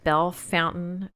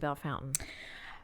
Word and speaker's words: Bellefontaine: And is it Bellefontaine or is it Bellefontaine? It depends on who you are. If you're from Bellefontaine, it's Bellefontaine. That's how you say it.